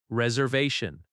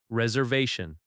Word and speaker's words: reservation: reservation reservation The stress falls on the third syllable. re-ser-va-tion That va sound is strong.